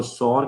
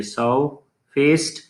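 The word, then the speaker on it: sour-faced: Alright, साउ फेस्ड, यहाँ पे जो साउ फेस्ड है, एक दो प्रोनाउंसिएशंस हैं, एक ब्रिटिश एक अमेरिकन। अमेरिकन इसको सौर कहते हैं, ब्रिटिशर्स आर खा जाएंगे, वो कहेंगे साउ फेस्ड, राइट।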